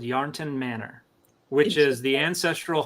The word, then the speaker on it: Yarnton: And so wait, Yarnton, is this like Yarn Town or like Yarnton? It probably derived from Yarn Town, but it's Yarnton is how it's spelled. Yeah, Yarnton.